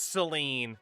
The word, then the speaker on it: Saline: Let me guess, they pronounce it like Sine. Now I got to look this place up. How do you pronounce it? Population 9,000. It is Seline.